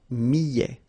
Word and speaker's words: millet: Le millet, here, I, and then double L, so I, millet. A T at the end, open, millet.